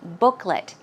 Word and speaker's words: booklet: And the next one, booklet. Remember, Joanne was talking about these coupon booklets, and the pronunciation is booklet. It's not let, although it's L-E-T, it's pronounced as an L-I-T, a short I sound, booklet.